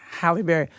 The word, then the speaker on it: Halle Berry: Halle Berry.